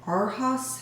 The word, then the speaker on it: Arhaus: been wanting off of Arhaus, I think that's how you pronounce it, A-R-H-A-U-S.